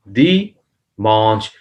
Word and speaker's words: dimanche: Here is the an is like a nun gunna in Urdu. Urdu में जो nun gunna sound होता है Monch that is come out that comes out from the nose nasal sound here is dimanche, manche.